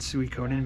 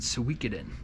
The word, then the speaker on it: Suikoden: So I pronounce it Suikoden because that's the way Psycho Mantis says it if you have the save file on your Metal Gear Solid game.